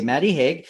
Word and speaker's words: Maddie Hague: I hope I'm pronouncing your name right. Is that right? You are. Yeah, that's correct. Okay, Maddie Hague.